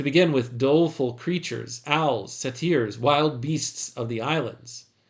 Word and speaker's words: satyrs: Satyrs, that's how you say it.